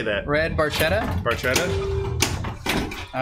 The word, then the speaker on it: Barchetta: Barchetta.